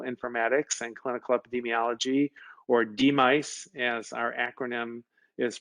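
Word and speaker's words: DMICE: department of medical informatics and clinical epidemiology or demise as our acronym is pronounced we are an academic department in the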